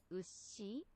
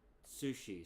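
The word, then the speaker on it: うし: Ushi. Ushi? Ushi. Ushi? Ushi. So it sounds like ushi, not sushi.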